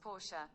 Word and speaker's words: Porsche: That's pronounced Porsche. Did you hear that? Did that get picked up? Let's ask him again. Okay, Google. How do you pronounce Porsche? That's pronounced Porsche.